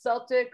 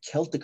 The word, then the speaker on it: Celtic: Actually, Isaac Darso, you may remember him, some of you, he pronounced it Celtic Frost early on when I first joined the band, and I always thought it sounded nicer. So I generally say Celtic now.